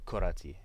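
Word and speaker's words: كرة: So when you say the word alone, it's just pronounced kura. But when you put a possessive pronoun at the end, it's pronounced like you pronounce the T.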